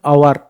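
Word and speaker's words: hour: एिफेंट N umbrella N orange an ice cream an आवर ए देखो त word को देख नाउन को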